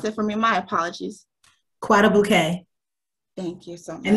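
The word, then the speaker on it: Guadeloupe: Can you pronounce it for me? My apologies. Guadalupe.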